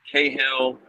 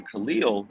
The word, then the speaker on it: Kahlil: So I got Cahill, Kahlil, all these kind of things, and my dad said, "No, you correct them." So Right. I corrected the Kahlil, but I also correct